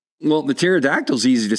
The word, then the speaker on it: pterodactyl: A lot of people do try to pronounce the P.